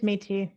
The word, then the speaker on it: Métis: Liboiron, Métis? Yeah, it's just Métis. It's not so fancy.